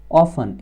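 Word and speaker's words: often: ध्यान क्या रखना, अगर आपको सेंटेंस में ऑलवेज मिले, ऑफन, इसको दोनों पढ़ते हैं, ऑफ्टन भी पढ़ते हैं, ऑफन भी पढ़ते हैं, दोनों ही करेक्ट प्रोनाउंसिएशन है, ठीक है ना।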